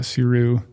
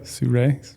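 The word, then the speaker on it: Sirui: do own that uh suru or suray I guess he would actually see Ray my bad I have I have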